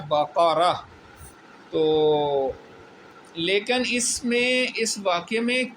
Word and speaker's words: بقرہ: نام سورۃ البقرہ ہے۔ ٹھیک ہے، بقرہ نہیں ہے، صحیح اس کا تلفظ جو ہے وہ ہے بقرہ۔ تو لیکن اس واقعے